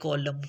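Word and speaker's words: column: खामोश कर देता है N become silent and we produce only and sound solely like कॉलम कॉलम कॉलम इज अ बिग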